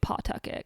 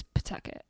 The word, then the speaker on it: Pawtucket: So it's spelled Pawtucket, Pawtucket, but you know someone's not from Rhode Island when they say Pawtucket because it's Pawtucket.